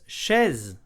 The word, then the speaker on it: chaise: So the sh sound, okay? Then an open e, okay? Then a z sound. Chaise, one syllable and a small piece of history.